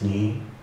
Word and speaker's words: Nyi: My name is Nii. It's spelled NYI and it rhymes with Nii.